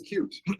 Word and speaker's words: Qt: Uh, who here has used uh QT? There is no correct way to say that, pronounce it. That's more than That's not true. The official pronunciation is cute.